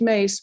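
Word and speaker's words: Myss: website first which is her last name is pronounced mace but it's spelled m y s s so it's m y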